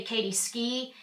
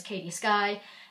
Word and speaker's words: Katie Sky: A lot of people say Katie Ski, even though I take care to say everywhere that my name is Katie Sky.